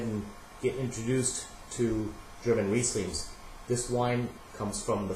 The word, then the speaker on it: Riesling: Some people pronounce it Riesling, but it's actually pronounced Riesling.